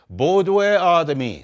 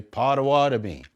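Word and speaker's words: Bodéwadmi: Bodwe Adami, some people say Potawatomi.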